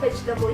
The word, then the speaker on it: vegetable: Nah, kalau di kata vegetable ini, huruf E setelah huruf G nggak usah kalian baca. Jadinya bukan vegetable, tapi vegetable. Oke?